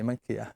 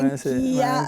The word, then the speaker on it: Manchia: E quindi disse Manchia con l'accento sulla I, Manchia. Ah, ho capito. Beh, vedi, questo non me l'hai detto, e allora così nacque il mio nome, Manchia, allora vedi, il primo errore ci sta.